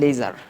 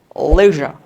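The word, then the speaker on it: leisure: ওকে, পরের শব্দটা দেখো, আমরা বলি হলো লেজার, লেজার, কিন্তু উচ্চারণটা কী হবে দেখো, লেজার, লেজার, নট লেজার বাট লেজার।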